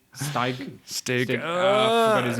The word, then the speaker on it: Stig: So, considering that the game director is Stig, I forgot his name. Is that how you pronounce the name? I think it's Stig. Stig.